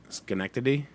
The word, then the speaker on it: Schenectady: Schenectady.